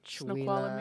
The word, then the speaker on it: Snoqualmie: there's a bunch of names around there that are interesting to pronounce. Mm-hmm. Well, it's kind of like Washington names. Yeah, Puyallup. I mean, Snoqualmie.